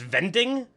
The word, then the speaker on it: Winding: uh Wikipedia media says the winding is actually pronounced vending with like a V sound but whatever we'll call